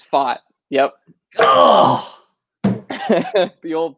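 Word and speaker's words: Pfaadt: Brandon thought um he's it's foxy is that fat it's fought yep the old pronunciation strikes again huh all these puns that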